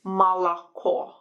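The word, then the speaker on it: молоко: we have the word milk which is malacho mala we only stress the stress is only at the at the end on the last vowel that's why we say o at the end but ah in the middle okay and um letter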